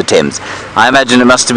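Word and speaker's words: Thames: suppose it must be the fames hey it's not pronounced like that is it Brian no the temps I imagine it must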